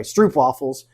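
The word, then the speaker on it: stroopwafels: Uh I'll just pronounce it the American way. Stroop waffles.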